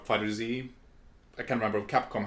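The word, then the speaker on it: FighterZ: ball z fighters yeah apparently it's supposed to be pronounced fighters or fighter Z I can remember of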